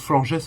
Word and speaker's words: Florges: Alors, je prononce Florges hein, d'ailleurs, parce que dans l'anime, je sais qu'il prononce comme ça.